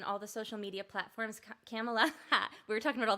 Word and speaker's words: Camela: Camela, we were talking about all the different mispronunciations. It's not Kamala.